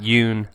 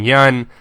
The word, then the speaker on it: Yeun: Some facts about Steven Yeun. And yes, that's how you pronounce his last name, Yeun. Not Yoon, but Yeun.